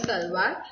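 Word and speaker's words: şalvar: Turkish salwar, pronounced salwar.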